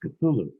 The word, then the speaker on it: Cthulhu: And he corrected me and he said, "No, it's pronounced Cthulhu."